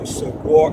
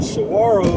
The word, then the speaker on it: Saguaro: Saguaro. It's pronounced Saguaro. But anyway, those are very fascinating, huge cactus, huge, and they're very old. For a saguaro to grow about 4 feet takes 25 years,